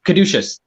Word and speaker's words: Caduceus: How do you pronounce that again, Mama? Caduceus.